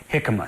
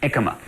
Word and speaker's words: jicama: in the world is that this is called hikma some people also pronounce it ikma it is a root it is a root